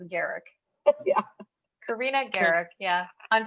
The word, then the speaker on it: Garriock: by their wrong name your last name it's garrick i know that oh you don't say the oh so it's garrick yeah karina garrick yeah i'm so used to